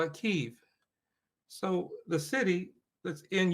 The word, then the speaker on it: Kyiv: drives me crazy is how people pronounce Kyiv. You know Kyiv? Mm-mm. No. No. Capital of Ukraine. Oh, okay, yeah. Kyiv. How do they pronounce it? Well, they say Kiev.